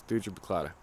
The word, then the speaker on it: Thuja plicata: I believe that's how you pronounce it. It's Thuja Plicata.